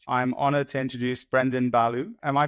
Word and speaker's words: Ballou: latest macro podcast I'm honored to introduce Brendan Balo am I pronouncing that corrected Baloo but any version is fine Belo I love it it's a great name